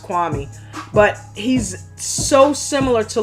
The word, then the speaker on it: Kwame: lot of and i got to stop saying kwame because apparently it's pronounced kwami but he's so similar to levar in the